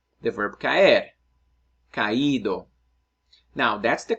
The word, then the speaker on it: caído: vowels in Spanish, well, if I want to give the emphasis on the weak vowels, I got to beef it up by giving an accent mark. So let's say the verb caer, caído.